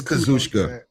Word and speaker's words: Kazuchika: And I never try to pronounce his first name, so I give it's Kazuchika. It's not that hard.